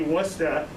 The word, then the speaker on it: Worcester: what it looks like if you want it to be worcester it should be spelled like munster without a couple of letters but i respect massachusetts